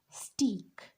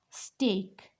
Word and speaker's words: steak: e and K break so this is not stick this is steak simp like not break